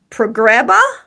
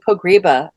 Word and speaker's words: Pogreba: Progreba. No, Pograba. Pogriba. Pogriba.